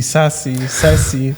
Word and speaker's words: SASE: dobrze mówić i tak mówi księż księżniczka Sis Sasi. Jak to się wymawia?